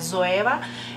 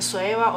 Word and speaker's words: Zoeva: En mi apellido, por ejemplo, mi apellido empieza con la letra Z y se dice Z, o sea, Soeva. Entonces, no sé. En español, obvio, dicen Soeva o Soeva, los que viven en España, por ejemplo.